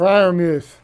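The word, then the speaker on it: Freiermuth: I can't pronounce it. Fryermuth.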